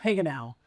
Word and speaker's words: Hagenau: How do you pronounce your last name? Heal.